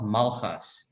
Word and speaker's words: Malgas: keep getting it wrong my name is malhas yeah see it's that g in your last name that i just can't pronounce it's like you have to use the back your tongue or something yeah it's very challenging